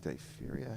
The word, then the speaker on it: diphtheria: They all die, thousands of them, I think it's 12,000, from is it diphtheria? How do you pronounce that?